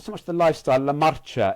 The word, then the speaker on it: marcha: La Marcha, M-A-R. La Marcha. Ah, to C-H-A-R, M-A-R-C-H-A, Marcha, and it sort of